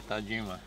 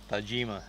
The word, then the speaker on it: Tajima: you to gima only I got correct you is how you say Tajima go ahead Tajima Tajima I've been practicing